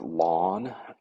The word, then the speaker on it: ln: is Ln of 2 I sometimes pronounce it lawn um but it's Ln of two so we don't use